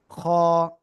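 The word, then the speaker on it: خ: তার নাম কি হবে খ কি হবে? খ গলার শেষ ভাগ থেকে উচ্চারণ হবে খ বাংলায় খ এর মত।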